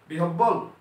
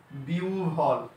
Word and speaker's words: বিহ্বল: বিহব্বল? Absolutely not. এটা হবে, যেহেতু হ ব এর পূর্বে ইকার আছে তার মানে হটা হবে উ, বটা হবে ভ। তার মানে উচ্চারণটা কি হচ্ছে? বিহ্বল।